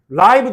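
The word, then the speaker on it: live: 자, 그래서 during 역시나 전치사니까 명사 게임하는 동안 그들은 또 그라이브 데이터라고 읽어야 돼요. 왜? 명사를 수식해 주는 형용사기 때문에 리브라고 읽으면 안 돼요. 라이브 데이터.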